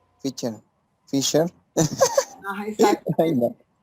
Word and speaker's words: Fischer: Bueno, es que no sé cómo se pronuncia su apellido, Bobby Fischer. Bobby Fischer. Fischer. Fischer. Fischer. Así como está escrito. Fischer.